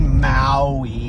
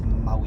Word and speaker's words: Maui: You don't say Maui. Lemuria. It's not Maui. It's Maui. You gotta say Maui. Maui. Say it like that.